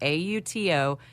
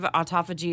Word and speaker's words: autophagy: I'm going to spell it Autophagy. Autophagy. Autophagy. Autophagy. Like auto. Auto.